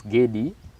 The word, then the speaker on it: Gede: was kilimani money later on it turns to giddy now so it's giddy not together but you'll